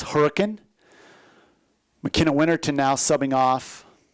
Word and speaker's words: Hurricane: 5'6" freshman out of Hurricane, Utah. Hopefully I am saying that correct. I believe the proper pronunciation for a Utah native is Hurricane.